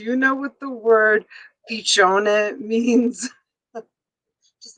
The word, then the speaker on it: piccione: Do you know, Dana, do you know what the word piccione means? Just say yes or no in the chat. Do you know what piccione means?